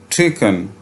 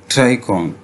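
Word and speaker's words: tricorn: Old Houser with his ट्रिकन. अच्छा बेटा, ये जो वर्ड है जिसे हमने ट्रिकॉन प्रोनाउंस किया, इसका अच्छा जो बेहतरीन प्रोनाउंसिएशन है वो है ट्राइकॉन.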